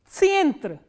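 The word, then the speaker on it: центр: And how will you pronounce this word? Tsientre, tsientre.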